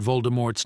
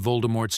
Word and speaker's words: Voldemort: been saying it wrong JK Rowling confirmed on Twitter that the tea is silent at the end of Voldemort's name it doesn't seem like